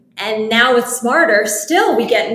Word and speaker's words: Smartrr: name because half half the people think it's smart RR so and and I grew up I mean